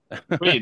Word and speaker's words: Twedt: Daniel Tweed, you can pronounce it. Yeah. Tweed. Like Exactly. a silent T there.